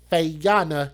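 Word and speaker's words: Fayonna: year old feyana hixson which is spelled f-a-y-o-n-n-a fay-yana hixson she's 23 years old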